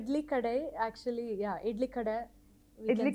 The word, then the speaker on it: Idli Kadai: idly shop idly shop I got it right idly kaday am I saying it right idly kaday actually yeah ID we can say you know